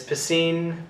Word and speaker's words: Piscine: His name is Piscine Patel. And because his name sounds like the word pissing, he changes his name to Pi, as in 3.14.